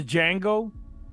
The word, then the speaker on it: Django: Jackson from the Django. Like he's ready to start. The D is silent, hillbilly.